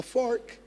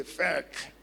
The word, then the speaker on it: fork: A fork, you know, some people cannot say a fork because it's easy for them say fk. Fake. But it's not like fake. There's not like fake. There's really nothing like that.